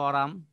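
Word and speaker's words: aurum: এটার ল্যাটিন নাম হলো অরাম, কোনো কোনো সময় উচ্চারণে এরামও কেউ কেউ বলে, যদিও এটা ল্যাটিন ভাষায় উচ্চারণ একটু হয়তো কম বেশি হয়।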